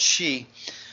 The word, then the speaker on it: Xi: There are numerous elements to the trip and the visit by President Xi. That's how you pronounce XI. It's like he, she, it, she, President Xi.